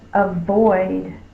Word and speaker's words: avoid: The next word is avoid. I will avoid the mean dog. Avoid. Is spelled with an A.